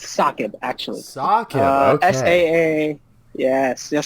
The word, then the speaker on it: SAAKB: It's pronounced SAAKB, actually.